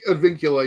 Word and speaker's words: Advincula: So, but all right, Monty, you're gonna have to try my pronunciation here. But my second baseman is going to be Jaron Advincula. Advincula.